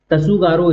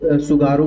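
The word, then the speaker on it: Tsugaru: तसुगारो state तसुगारो straight यानी T silent the सुगारो बोलते हैं।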